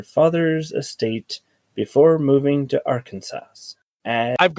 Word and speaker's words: Arkansas: I know it's I know it's spelled ar or Kansas, but it's Arkansas.